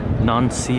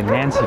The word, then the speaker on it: Nancy: is our second destination we are in non-si France shows a Nancy France which would probably offend all of the French cheese here so let's let's go with the French pronunciation of it alright